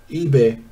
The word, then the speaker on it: Ibe: Ibe. The E is silent. Uh-huh. eBay without the I. eBay.